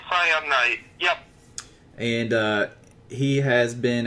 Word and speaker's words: Cyanite: Yep, it's Cyanite.